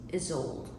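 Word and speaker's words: Ysolde: Her first name is spelled Y S O L D E pronounced is old.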